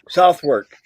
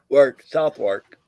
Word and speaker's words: Southwark: Southwark. Southwark. That's what most people said. It's pronounced Southwark. It's on the edge of London. Southwark.